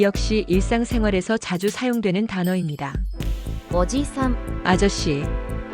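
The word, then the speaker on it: おじさん: 오지산, 아저씨. 이 단어는 오지산이라고 짧게 발음합니다. 일반적인 아저씨를 지칭할 때 사용합니다. 지는 한 박자로 짧게 발음됩니다.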